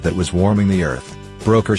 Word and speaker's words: Broecker: greenhouse known as Earth Broker pronounced broker regretted he could not